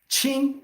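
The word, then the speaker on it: 情: All the good part, qing, this is pronounced as qing, the emotion.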